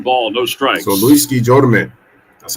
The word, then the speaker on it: Guillorme: So Luis Guillorme, that's how you pronounce it, say it.